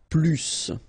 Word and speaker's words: plus: I will be um there is a strange thing in French language with this plus okay because in some cases you will have to pronounce the final s and in other cases you won't.